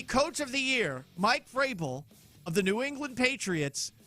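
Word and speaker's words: Vrabel: of the year, Mike Frabel of the New England Patriots, had his name pronounced ever so confidently by some rando, strong, powerful, independent woman. 2025 AP Coach of the Year is Mike Verbble.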